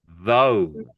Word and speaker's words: though: So it's going to make an O. O sound. So let's try to say it. O. Though.